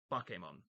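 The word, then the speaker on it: Bakemon: I mean, yeah, I know the name looks like bake, but it's pronounced Bokemon, you know, which I believe is ghost in Japanese.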